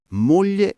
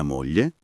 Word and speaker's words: moglie: Il lessico di coppia moglie e marito. Mia moglie, tuo marito. Piccolo trucco di pronuncia. Moglie si legge mo non mlie. La g e la l si leggono come una L normale.